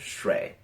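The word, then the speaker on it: 水: It's pronounced shui.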